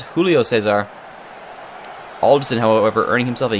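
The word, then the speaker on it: Júlio César: haven't pronouncing it incorrectly it is Julio Cesar not Julio Cesar Alderson however earning himself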